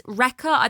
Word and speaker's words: Rekka: This is Rekka. They call it Lekka, but I know that Japanese don't really pronounce the R's. They can't really do it. So it's Rekka.